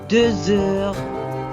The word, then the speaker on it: deux heures: est deux heures heures on fait la liaison ici et je prononce Z il est deux heures il est 3h